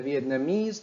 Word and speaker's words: Vietnamese: as we learned earlier a stress falls on these suffixes so this sentence sounds like this the Vietnamese trainee volunteered to help the Lebanese and Chinese refugees the Vietnamese trainee volunteered to help the Lebanese and Chinese refugees talk about the rhythm of